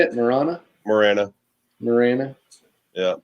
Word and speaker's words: Marana: Marana.